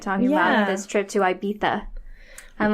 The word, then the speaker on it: Ibiza: But if you're reading it anywhere else, you pronounce that goddamn Z.